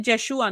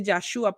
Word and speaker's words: Yeshua: dice Eloy Joshua dijo se dice yeshua no se dice yashua porque si fuera yashua tiene tiene sexo de mujer Okay eso se dice